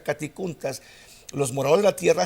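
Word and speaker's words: κατοικοῦντας: emplea la palabra caticuntas, se escribe catoicountas, se pronuncia caticuntas.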